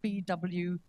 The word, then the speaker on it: Bouygues: Bouygues, we sort of spell it out, and BWEEG for people who don't know how to pronounce it when they read it.